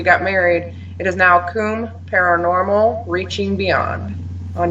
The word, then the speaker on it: Commbe: married it is now comb paranormal reaching beyond on you always thought it was cold everybody pronounces it wrong i'm sorry i always